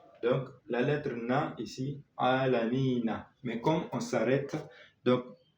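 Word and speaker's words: العالمين: Mais comme on s'arrête, donc, pour la bonne lecture, on ne doit pas dire Alhamdulillahi Rabbil Alamina. Non, non. Alhamdulillahi Rabbil Alamin. Ok? On ne prononce pas Na, mais N.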